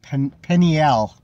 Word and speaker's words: Penuel: I don't know means um penniel is how it's actually pronounced penniel um 30 it